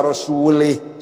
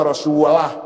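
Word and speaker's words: رسولُه: Innallaha bari'um minal musyrikin wa rasulih. Salah itu. Allah tidak melindungi orang musyrik dan tidak melindungi Rasulnya. Salah. Bacanya harus innallaha bari'um minal musyrikin wa rasulah. Jangan li. Rasulah, jangan rasulih. Kalau rasulah mananya Allah tidak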